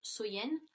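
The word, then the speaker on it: Samhain: l'année donc était euh samen donc qui est prononcé qui se prononce soyen et donc il croyait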